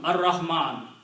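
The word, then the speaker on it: الرحمن: Because you know by the sound, Ar-Rahman, lam is written, not pronounced, which means Ra is Shamsi.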